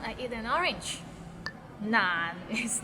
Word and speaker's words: 難: Nan, it means difficult and it's difficult to pronounce. So it starts with n and ends with another n. Nan, and it's in a low tone, so nan.